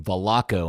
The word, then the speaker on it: Velasco: saw it dan but he clearly pronounced his last name veloco and i guess that is an argentinian thing they pronounce s's is c's or something i don't know i